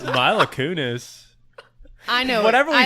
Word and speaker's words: Mila Kunis: pronounce any name? Hi, right? welcome to the Mile of Kunis. Mila Kunis.